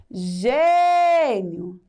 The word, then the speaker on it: gênio: Gênio. Ge ge nio. O ge se destaca. Então, ge é a sílaba mais forte, ou seja, a sílaba tônica.